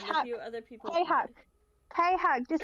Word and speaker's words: KHuck: just say KHuck. You don't need to say cuck.